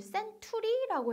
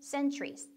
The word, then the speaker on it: centuries: 여기에 cen 스펠링으로 보면 t가 나오니까 여러분들 century라고 해야 되나? century 아니고요. 약간 치읓 발음 얹혀서 centuries. centuries. centuries.